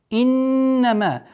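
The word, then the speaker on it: إِنَّمَا: Иннама. Назализация в размере двух огласовок. Удерживаем нун, после которого мим с долготой в размере 4 огласовок.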